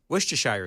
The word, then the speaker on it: Worcestershire: Worcestershire sauce. That's the correct pronunciation.